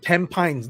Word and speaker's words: Tampines: And my wife worked in, that's not Tampines, that's Tampines. This is how we pronounce it.